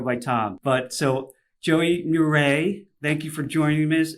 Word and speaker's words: Mure: learn tons from our special guest here Joey muray Raj with puree so thank you for that